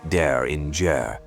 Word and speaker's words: Derringer: This is the untold saga of Rick Daringer, pronounced dare in the architect the industry forgot.